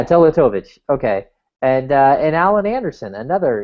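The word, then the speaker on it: Teletović: So does I don't even want to try to say his name, but Tatolovich, I think is how you. Yeah, Teletovic.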